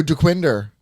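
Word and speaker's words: Dequindre: wow good for you dequinder you say it right most people don't who who doesn't say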